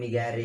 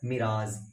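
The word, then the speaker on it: mirage: Okay, बहुत सारे इसको बहुत तरीके से बोलते हैं, मिगैरे मिगैरे ऐसे कुछ करके बोलते रहते हैं, जबकि इसका वर्ड मीनिंग का स्पेशल सॉरी मतलब जो होता है ना ऑथेंटिक प्रोनाउंसिएशन उसका होता है मिराज, MIRAZE, मिराज।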